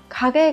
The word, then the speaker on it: 陰: Ano hito wa kage ga usui tonzai de itsumo minna ni wasurarete iru đấy.